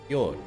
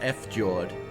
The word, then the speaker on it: fjord: after jordan jasmine look f george is not a word george j is silence say it with me yord yeah pauline fjord yeah like them say it like that howling after jordan yeah no it's not f jawed you're it's swedish viking word i never [ __